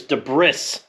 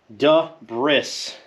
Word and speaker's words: debris: There's debris. Debris. I work with a guy and he says debris. I'm like, sir, aren't you a college graduate? You should know it's debris. Debris.